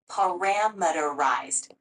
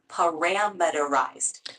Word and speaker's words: parameterized: now try saying it slowly paramal so close parameterized let's focus on the Ted part at the end it rhymes with sized give it another go param